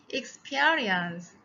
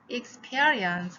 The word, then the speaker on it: experience: 한번 더 강조해 볼게요 per 발음이 퍼가 아니에요 퍼 발음이 아니라 PE이라는 음이라는 거 꼭 기억해 주세요 큰소리로 함께 따라해 볼까요 experience experience 그리고 기간이라는 거는 peri